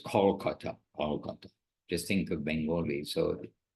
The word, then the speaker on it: Kolkata: Everyone called Calcutta, but the local pronunciation anyhow was Kolkata.